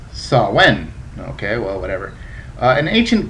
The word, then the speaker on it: Samhain: me it says uh samhain ah the same festival pronounced sawen okay well whatever an